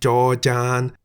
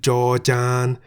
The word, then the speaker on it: จ จาน: Remember that Jaw-Jan sounds like a T at the end of a syllable, so we say at.